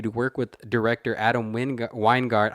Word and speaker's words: Wingard: work with director adam weingart i don't know how to say his name it's w-i-n-g-a-r-d i'm gonna just say wingard who described who he